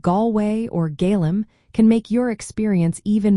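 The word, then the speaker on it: Gaillimh: In the Irish language, Galway is called Gaelim. This is pronounced approximately as Gal Roman 4, with a soft V sound at the end.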